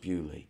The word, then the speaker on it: Beaulieu: Of course it's pronounced Beaulieu.